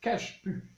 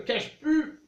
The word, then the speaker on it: cajeput: Bonjour, aujourd'hui je vous parle du secret du baume du tigre, soit l'huile essentielle de cache-pu.